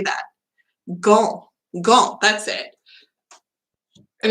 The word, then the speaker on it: Gand: It's G-A-N-D. How do you say that? Gand.